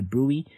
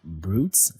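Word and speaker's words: bruit: in the neck rather a brewee this is pronounced as brewery not brutes so brewey you're going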